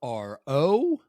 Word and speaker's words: Ro: My name's Ro. That's spelled R-O, not R-O-W, like in row your boat.